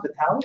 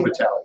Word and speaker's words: Vitale: Hypnotic Writing by Joel, I think it's pronounced Vitale, V-I-T-A. Joe Vitale, yes.